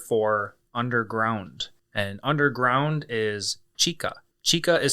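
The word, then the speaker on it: 地下: And underground is chika. Chika is spelt C-H-I-K-A.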